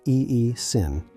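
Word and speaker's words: aescin: Horse chestnut seed extract contains a compound called essin, pronounced E-E-sin, which repairs and reinforces the capillary wall itself.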